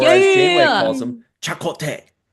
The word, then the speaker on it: Chakotay: Remember how she started pronouncing it differently, like in the second or third season when there was like a Yeah. Native American that like visited and he started calling him, oh, Chacote or something like that.